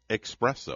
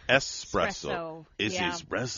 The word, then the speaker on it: espresso: just figured this out i've always called it expresso it's not expresso it's s espresso mane it's one of